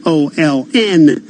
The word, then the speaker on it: Olin: but talking about Olin is an Olin corpus that how it's pronounced that's right Jason it's a familiar name